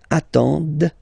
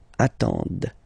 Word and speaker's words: attendent: And the last one, same thing, classic ending for il, elle at the plural form, ENT, but then you don't pronounce them. Ils attendent, okay, so remember you get to pronounce this, the D at the end, okay.